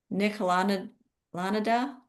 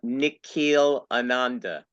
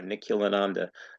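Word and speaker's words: Nikhil Ananda: Uh, Nikquille Ananda. Just Ananda. Thank you. Just pronounce it like the letters are. Nikil Ananda.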